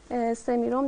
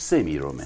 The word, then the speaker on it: سمیرم: تلفظ صحیحش سمیرومه. سمیرون بله. بومی ها چی میگن؟ هم سمیرون میگن؟ سمیرون. سمیرون. بله. بومی ها سمیرون میگن.